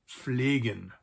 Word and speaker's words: pflegen: We also have the verb pflegen, to care for someone or something, or to take care of something.